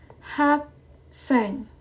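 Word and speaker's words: 학생: belajar kita yang lagi belajar itu dipanggilnya adalah hak seng Oke jadi ha a ke s e ng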